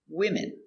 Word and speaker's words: women: One woman, but two or more, 3, 4, women. One woman, two women. Let's look at the pronunciation closer. Pronunciation, women. 2, 3, 4, women. W, I, wi. Wim, I, women.